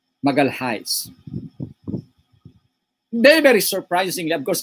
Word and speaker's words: Magalhães: Of course, Magalhães, as the Portuguese would pronounce it, but of course, to most of us would pronounce Magalhães.